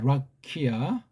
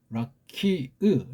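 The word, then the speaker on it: רקיע: 보기 들어봐서 자 오늘은 이제 그런 예 날 두 번째 있었던 라키아 문제 라키아 라키으 라키흐 라키흐 라키으라고 발음해야 돼 라키으 라키으 그런 거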